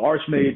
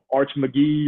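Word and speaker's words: Archmage: told me that and he told me how to pronounce it and he Arch McGee or none of that none of that crazy that's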